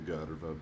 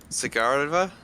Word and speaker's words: Skigarva: Skigarva, by the way. One less syllable. DM. What is it? Skigarva. Sigarva?